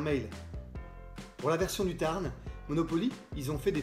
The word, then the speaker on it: Tarn: Monopoly lance une édition Tarn. Enfin, Tar, le Tar. Chez eux, ils disent le Tar. Ils prononcent pas les N.